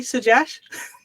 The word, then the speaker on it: Sujesh: by the name of suash am I pronouncing your name correctly suash excellent perfect how are you byy